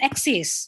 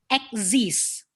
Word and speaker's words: exist: exist it should be exists like like egg with the word this so exist yeah like